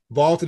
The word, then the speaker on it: VLTED: Vaulted is spelled V-L-T-E-D.